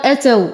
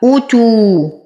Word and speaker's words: أوتوا: تو، أوتوا، زمن حركة فقط. من الأخطاء الشائعة أن يقال أوتوا وهذا خطأ، أو يقال أتوا والهمزة مضمومة وليست مفتوحة. أوتوا. لدينا واو ساكنة ما قبلها مضموم فهو من الطبيعي حركتين.